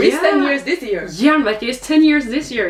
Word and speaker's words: Jernverket: But you have a podcast that's quite famous in the Norwegian scene called like Jernverket, if I pronounce correctly. Jernverket, yeah.